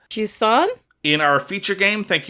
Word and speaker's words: Jusant: We are then going to go on to discuss Jusant. That is how it is pronounced in French. In English, Caitlin, how would you say it? Jusant?